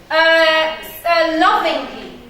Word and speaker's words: lovingly: Lovingly. Lovingly. So what am I going to stress? The first syllable.